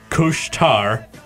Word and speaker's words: Couche-Tard: the pronunciation of the franchise it does it couche-tard that's how it's pronounced apparently franchising Quebec thought both entrees should